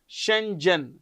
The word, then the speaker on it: Schengen: How do you pronounce this? Shenzhen.